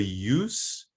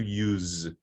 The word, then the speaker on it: use: or adjective it's voiceless and when it's the verb it's voiced so it's the case of the abuse versus to abuse the use versus to use the excuse first verses